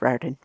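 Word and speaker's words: Riordan: Percy Jackson light Lightning Thief series by Rick Ren um you're talking about the novels right yes and um I did look up that's how it's pronounced Ren anyway um I used to read those to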